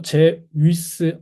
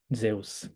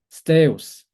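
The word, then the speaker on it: Ζεύς: 제우스. 이거 제위스 아닙니다. 제우스예요. 이 이중 모음이죠. 저희 배웠던 에우. 그래서 제우스 또는 세우스. 나는 죽어도 고전 그리스어 발음으로 원래대로 가겠다 하고 싶으신 분들은 스테우스, 스테우스 이렇게 하시면 됩니다.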